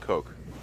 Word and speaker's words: Koch: No, think Koch. Only pronounce it Coke.